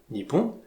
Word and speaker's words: Nippon: On va garder la prononciation chinoise Onyomi, qui est donc Nihon, Nippon, à la différence de la lecture japonaise Konyomi, qui était Hinomoto.